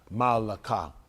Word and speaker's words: Malakah: I think their work is Malakah. I think M-A. They're going to spell it probably M-E. I do M-A-A-C-H-A-H. Malakah.